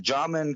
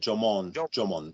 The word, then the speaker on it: Jomon: Yeah, and that's cool that you're getting to look at the Jaman culture or Ainu, really. The original. Yeah, the Jomon is how they say it. Jomon.